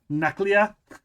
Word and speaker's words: nuclear: Nuclear? Nuclear. Nuclear? You just go, there's no extra U in there, bud.